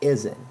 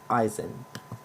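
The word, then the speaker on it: Izien: the Buccaneers in include Christian Isen that's how he pronounces his last name it's Isen not Eisen he had 13 tackles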